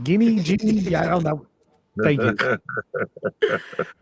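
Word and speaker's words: Ginnie: That was a great, and that's Miracle Leaf in Ginny Springs. Is it Jenny? Like, how do you say it? Jenny, like in Jenny? Forrest Gump.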